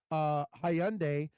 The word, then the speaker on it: Hyundai: Why is it that fucking Hyundai can sell their cars in America and only pay a 3% taxes on every single car sold?